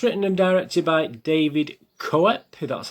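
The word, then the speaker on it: Koepp: et cetera it's written and directed by david cowet who that's how you pronounce his name and it's based on the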